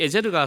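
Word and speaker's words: עֵזֶר: 근데 에셀로 우리가 한글로 되어 있지만 히브리어 발음은 에제르입니다. 이 에제르가 사용된 가장 유명한 구절이 오늘 우리 찬송 인도하셨던 분이 불렀던 곡이죠.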